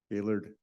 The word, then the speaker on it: Gaylord: you all right Northfield Gaylord and that's the way you pronounce it everybody not Gaylord Gaylord uh Carolyn